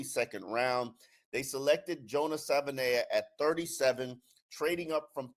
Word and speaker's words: Savaiinaea: Joining me is Isaiah Smalls for us to break down the addition of Jonah Savana.